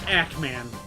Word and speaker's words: Ackman: Oh, it's actually pronounced Ackman.